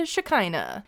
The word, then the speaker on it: Shekinah: two bozos sarper and shakina and yes that is how you say her name I prefer Shakira and